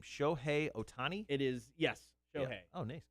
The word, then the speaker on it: Shohei Ohtani: uh how do you say this guy's name shohei ohtani it is yes oh nice good for me